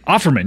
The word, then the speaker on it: Aukerman: How do you say that? Scott Offerman? Offerman, yes, Scott Offerman.